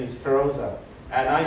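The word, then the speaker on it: Pheroza: I still when I phone, and somebody asked me the name, my wife's name is Feroza, and I spell it P-H-E-R-O-Z-A.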